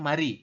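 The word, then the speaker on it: 마리: ini berarti ada e tulisannya Mali tapi kita bahasnya mari seperti itu nah dia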